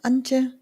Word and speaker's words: Ania: Um, am I pronouncing your name correctly? Auntie. Yeah. Ania. Ania.